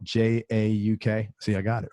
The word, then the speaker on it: Jauk: And again, his last name is Jauk. It's spelled J-A-U-K.